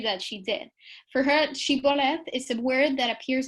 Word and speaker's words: shibboleth: crossing the Jordan, they were forced to say the word shibboleth, and some of them pronounced it siboleth, and this is how it creates this distinction.